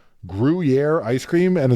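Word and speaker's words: Gruyère: flavors and weird flavors, and people were like Gruyere ice cream, and it's like, well, not. I mean, it's pronounced Gruyere. It's pronounced Gruyere.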